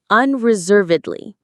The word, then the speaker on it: unreservedly: That word is an adverb, unreservedly. Let's try this one. Unreservedly. Say it with me. Unreservedly. Unreservedly. The main stress is on the third syllable, serve, unreservedly.